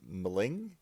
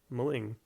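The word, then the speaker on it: M'ling: then so it's like you just pronounce the letter and then the next one just picks up so mulling now i want to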